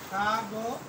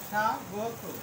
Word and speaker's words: স্বাগত: আবার স্বাগত, স্বাগত উচ্চারণ হবে স্বাগত, অথবা স্বাগত, এটা দুইটা উচ্চারণই সঠিক।